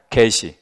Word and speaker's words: 게시: 그냥 계시 얘는 얘는 좀 장음으로 발음하셔야 돼. 좀 길게 계시 예요. 요요 어이계는 계시 얘는 단음 개시.